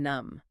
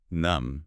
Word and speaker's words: numb: And we contrasted suppression with feeling numb. Numb. Numb is a state of emotional emptiness. The B at the end is silent, so it's just pronounced numb.